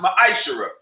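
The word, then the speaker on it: מעשר: and malachi 3 8-10 means 10th in hebrew and is pronounced maisha 10 of every penny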